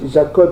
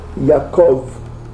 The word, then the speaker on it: Yaakov: Donc ici la prononciation en hébreu yiddish, le B se prononce V. Eux ils disent pas Abraham, ils disent Avram. Ok? Jacob, ils disent pas Jacob, ils disent Yaakov.